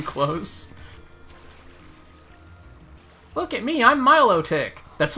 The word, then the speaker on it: Milotic: the milk I'm gonna continue calling it melodic because Milotic sounds stupid don't at me I don't give a if that's how it's said in the anime or whatever the [